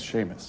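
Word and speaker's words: Seamus: S E A M U S is Sheamus.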